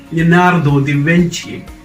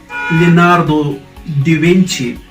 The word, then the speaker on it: Leonardo da Vinci: so this is huh okay how do you pronounce this where's drawn he was man of all talents he is leonardo di venci leonardo da vinci leonardo da vinci okay they don't you know